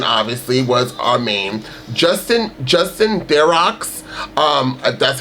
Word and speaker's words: Theroux: Justin Theroux, that's how you pronounce his last name.